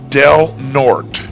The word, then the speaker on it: Del Norte: But in any case, the name of the county is pronounced Del Norte.